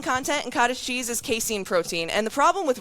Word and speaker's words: casein: Yeah, I'm pretty sure it's Caseine. But anyway, eating it before